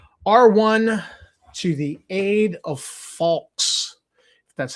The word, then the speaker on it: Falx: R1, To the Aid of Falx. That's how it's pronounced.